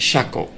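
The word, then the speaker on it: 車庫: means garage and this Ki is pronounced shako which means Garage in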